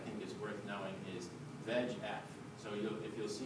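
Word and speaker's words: VEGF: stuff on the internet VF is just all four letters capitalized but we pronounce it v f and the reason that's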